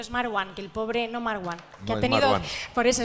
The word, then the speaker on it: Marwan: que el pobre No Mar One que ha tenido por eso es mar One que el pobre ha tenido que poner una tilde en su nombre para que lo intentemos pronunciar bien y eso que que